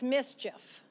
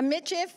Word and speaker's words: Michif: I told Robert this morning it's mischief.